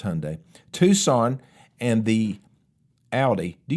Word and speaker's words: Hyundai: the GMC Terrain, the Lexus RX, the Honda HRV, the Civic, the Honda CRV, the Hundai. I know how to say it. It's Hyundai.